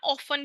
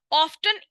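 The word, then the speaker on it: often: की business partners are ऑफ्टन ऑफ्टन भी बोल देते हैं, ऑफन भी बोल देते हैं। ऑफ्टन इंटरट्वाइंड इन एक्सपेंस अकाउंट्स।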